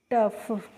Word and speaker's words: tough: ऐसे ही TOUGH है, तो देखो टी को हम पढ़ते हैं ट, और OUGH को हम पढ़ लेंगे फ, तो इसको बच्चों हम क्या पढ़ेंगे, टफ।